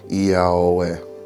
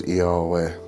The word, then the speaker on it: Iaoe: It can be used, but what I was taught is that this is the ineffable name, and the ineffable name is actually pronounced Iaoe.